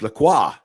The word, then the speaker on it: Lacroix: Yeah, and I actually pronounced it correctly as well. Just putting it out there. Lacroix. It's Lacroix.